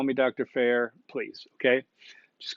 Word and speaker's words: Fair: My name is Fair, pronounced Fair. It's not Fryer. It's not Fire. Hey, detect a pet peeve in there. It's Fair, Professor Fair.